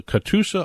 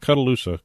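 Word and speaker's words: Catoosa: as mary from cuddle katusa oklahoma not cudaloosa katusa oklahoma katusa katusa if anyone knows where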